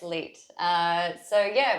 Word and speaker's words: Leet: Is that how you pronounce it? Yes, Leet.